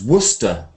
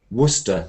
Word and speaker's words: Worcester: you pronounce it Vester it's Worcester Worcester because um it's like leester City Worcester City how do